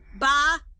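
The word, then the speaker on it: bah: ba is silent and the h at the beginning of the word humbug is pronounced right would you all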